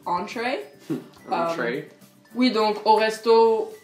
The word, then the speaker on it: entrée: Oui, donc entrée aux États-Unis ça veut dire le plat principal et ça se prononce entree.